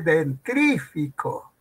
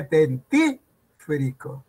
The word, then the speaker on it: dentífrico: No se dice dentrífico, se dice dentífrico. Es un barbarismo.